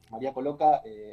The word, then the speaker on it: María Coloca: ¿Se pronuncia así? Sí, así se pronuncia. María Coloca, actriz, directora, cantante, que